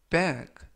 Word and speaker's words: back: 이번 표현은 bag, bag, bag 라고 발음하시면 되겠고요.